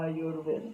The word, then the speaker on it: Ayurveda: Então a pronúncia certa de Ayurveda é Ayurveda, como a gente estava vendo antes.